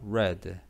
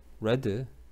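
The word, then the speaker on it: read: 리드, 요거 발음 어떻게 하라고 그랬어? 레드. 어? 과거인데? 레드. 발음이, 모양은 똑같고, 주의해줘.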